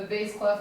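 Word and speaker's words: bass clef: is a base class a Bas CL is spelled b a SS not S E Bas cff and a Bas cluff you can think about your Bas mint in your house is low so the base cluff is going to be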